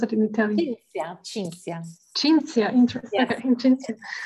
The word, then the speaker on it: Cinzia: How do you pronounce it in Italian? Cinzia.